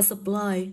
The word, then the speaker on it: supply: Đọc là supply, thì cô có sub là ơ.